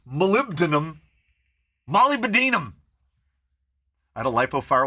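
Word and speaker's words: molybdenum: denum e ew uh it's Molly bam Molly Binum it's just like I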